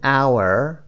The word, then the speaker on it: hour: ه تلفظ نمیشه. ه نیست. ا هست. Hour.